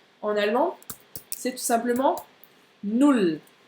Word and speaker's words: null: C'est un OU bien court.